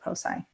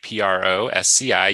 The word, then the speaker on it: Prosci: So the name of the company is Prosci, Prosci. You pronounced it perfectly. It gets pronounced Prosci quite a bit, but it's actually a contraction of professional and science. So that's where you get the pro and the sci.